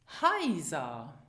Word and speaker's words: Heiser: Well, as you see, the EI diphthong and the AI diphthong are pronounced the same, as in the English word buy. Heiser.